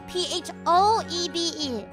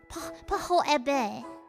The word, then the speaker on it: Phoebe: So because they cannot spell my name correctly, I use because it is easier for people to pronounce and remember. Yes, PHOEBE is my actual name. However, I'm okay with being called as well. Phoebe. Pahoebe.